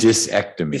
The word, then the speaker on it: discectomy: c e c t o m y dissected dysectomy vasectomy say that fast five times so were